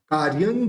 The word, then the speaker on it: कार्यं: के बाद लेंगे और य के ऊपर जो बिंदी है और आगे क है तो उस बिंदी का उच्चारण न निकलेगा कार्यं की कार्यं की ठीक